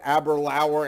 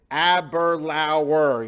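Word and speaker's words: Aberlour: know I remember like I mispronounced Abra Lauer and all of a sudden I get this text from from Lynn in big letters it's aberlauer you know she just totally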